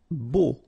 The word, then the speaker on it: beau: Beau. Okay, so remember we've got this strange combination of vowels. A, U, so 3 vowels, but then phonetically it's only O.